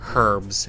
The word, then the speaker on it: herb: The Brits pronounce the H in herb. All the herbs in the world.